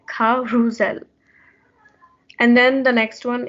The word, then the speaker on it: carousel: which is a merry-go-round it's actually pronounced ca ru zel you have to like stress the middle of the word and then as you can see in the english word it's s but it's pronounced with a z sound so it's like kha rusell and then the next